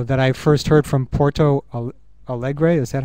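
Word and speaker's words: Porto Alegre: uh thing uh that I first heard from Porto Al Allegre is that how you say it that's right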